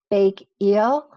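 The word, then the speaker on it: 백일: I think it's pronounced Bake Eel.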